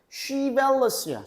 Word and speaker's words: chivalrous: chivalrous야. chivalrous.